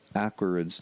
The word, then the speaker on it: Aquariids: sounds like Gemini but Aquarius going from Aquarius where the accent is on the second syllable to the awkwards accent on the first syllable that's a little bit of a jump anyway that's where it